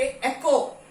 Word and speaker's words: echo: okay, एको ECOE pronounce हो रहा है, H इज साइलेंट, यहाँ पे H नहीं प्रोनाउंस हो रहा है, यहाँ भी H नहीं प्रोनाउंस हो रहा है, यहाँ भी H नहीं हो रहा है, तो यहाँ पे